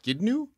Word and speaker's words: Tsidkenu: rochelle pronounce this jehovah's skidnew sadiq sadiq whoa what that's not what it looks like again sadiq sonic it's it's a ts or a tz sound it's psychotic yeah you